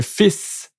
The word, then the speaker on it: fils: So, un fils. We don't pronounce the L for this one.